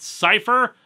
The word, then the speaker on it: Psi-4: with their leader, Psi-4, which is apparently supposed to be pronounced Cypher, but if they wanted that, why not just spell it as Cypher?